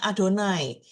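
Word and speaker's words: יהוה: Hal-hal itu berkata berkata annohi Yahwe. Ini kan dia kan Yahwe tapi biasanya kita bacanya Adonai.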